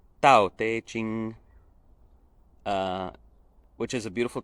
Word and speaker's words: Tao Te Ching: te ching and tantra sorry if my chinese pronunciation isn't perfect but it's something very close to tau teiching uh which is a